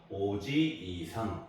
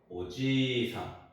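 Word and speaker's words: おじいさん: 오지 이상이라 그러죠도 마찬가지로 오지 이상 이렇게 하는게 아니고 지를 한 번더 발음하는 거 오지상 오지상 이렇게 되는 거고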